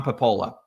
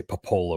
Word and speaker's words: Papola: So let's welcome to the show, Papola. Hey, Eric, thanks for having me on. By the way, am I pronouncing your last name right?